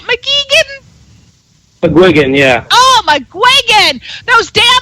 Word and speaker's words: McGuigan: McGuigan, yeah.